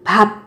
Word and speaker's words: 밥: Phát âm là 밤 khi mà theo sau của nó là một phụ âm mời thế này. Còn thực tế của nó là từ 밥, 밥.